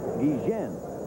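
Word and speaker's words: Guillén: sample holding it first now the name is g-u-i-l-l-e-n when he first came here he said the name should be pronounced gijen but they said hey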